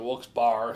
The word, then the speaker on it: Wilkes-Barre: that's rocket ishmael from wulkes bar pennsylvania i was like whoops bar is looks bear but it's b-a-r-r-e but we got to pronounce the wilkes-barre so i could call it wilkes bar all right folks bar